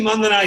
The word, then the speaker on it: Mandhana: So very happy that we've got Smriti Mandana here on the show with us.